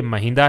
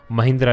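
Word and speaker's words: Mahinda: याद रखिएगा ये महिंदा है, महिंद्रा नहीं है, कई बार ये गलत प्रोनाउंसिएशन किया जाता है, यानी कि बी ऑप्शन प्रश्न का सही उत्तर है।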